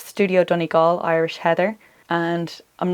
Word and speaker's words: Donegal: On the topic of Studio Donegal, just a quick note, the pronunciation of Donegal is Donegal. I can understand why people say Donegal. It looks like Donegal, but it's Donegal.